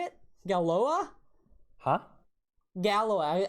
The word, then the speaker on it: Galois: Gallois. I always say Galloy because it's spelled Galois. And so I'm like, oh, it's Galloy.